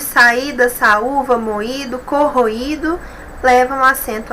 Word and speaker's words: saída: Temos aqui saída, I, sílaba mais forte, temos o hiato aqui,